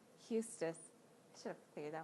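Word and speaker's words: Eustace: scrub was a jerk Houston thank you thank you I knew I said it wrong Eustis I should have figured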